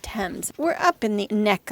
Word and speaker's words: Thames: So, we are on the Thames, which is spelled like Thames, but pronounced Thames.